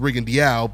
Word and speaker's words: Rigondeaux: Guillermo Rigondeaux, or Rigondeaux, which Rigo told me is actually pronounced Rigondeaux, but anyway.